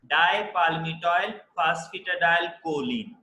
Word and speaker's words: dipalmitoyl phosphatidylcholine: But that is pronounced dipalmitoyl phosphatidylcholine.